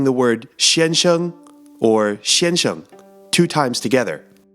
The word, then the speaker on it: 先生: saying that together let's practice saying the word Shan Hsiung or Shinjo two times together Shan Shan Shan Shan do you remember what Shan Hsiung means it means mr.